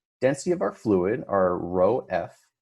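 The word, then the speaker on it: ρ: So force of buoyancy is equal to the density of our fluid, our rho F. This is how you pronounce this guy right here, right?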